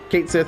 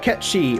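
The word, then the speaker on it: Cait Sith: Kate Sith, I do believe, is the proper...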